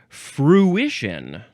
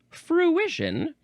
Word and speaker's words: fruition: So, it's got fruit at the beginning, but that is not at all how you pronounce this word. F r u ii t i o n fruition. Is that like intuition?